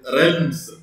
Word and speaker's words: realms: And with these very large areas with the distinct animal fauna or animals is known by realms. You don't just R-E-L-M-S, don't pronounce A, realms.